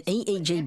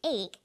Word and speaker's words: EEG: or an acronym an eeg brain scan helps answer that say the swinburne researchers he says an eeg that's an abbreviation we don't pronounce it egg we say e e g e g stands for